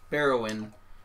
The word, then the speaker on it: Bearuwyn: Barrowin. It's spelled Bearuwyn.